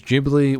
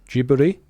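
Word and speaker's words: Ghibli: Japanese is it uh jiburi so I think you would say jibi right they say it like gber okay yeah so yeah so I think you would say it with a soft G then so so no Tik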